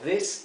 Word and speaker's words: this: Aquí lo he transcrito con doble I, a these, porque quiero que se pronuncie como una I larga, these, ¿ok? Mientras que este es una I corta, this.